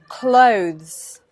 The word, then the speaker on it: clothes: with a hmm okay that th sound which is notoriously difficult plus it's sound at the end so it's clothes clothes now this is tricky